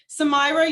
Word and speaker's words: Samira: Samira, you had your hand up? I hope I'm pronouncing your name properly. You got it.